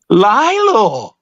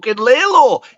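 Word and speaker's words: Lalo: shiff just fits me down to the ground lyo lyo that's two of you pronounce it wrong cuz he pronounces it Lelo it's l it's l l Li from bread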